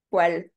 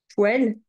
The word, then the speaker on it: poêle: Ensuite, ça s'écrit pas comme ça. Poêle.